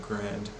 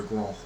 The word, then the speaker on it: Grand: this other guy named Grand or Gro in the French pronunciation and he spends his